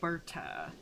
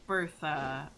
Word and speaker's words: Berta: It is Berta, not Bertha.